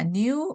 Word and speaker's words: knew: 자, new 이거 no new known이죠. 따라해 주세요. no new known. Known, you know. 여기서 K가 발음하지 않아요. K는 묵음이에요. 그래서 new 그냥 발음이 new예요.